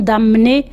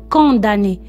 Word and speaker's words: condamné: condamné attention il ya quelques élèves qui prononce comme d'amener non c'est condamner le dernier jour d'un